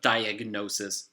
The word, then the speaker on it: diagnosis: but with these examples diagnosis prognosis you pronounce the G so a diagnosis is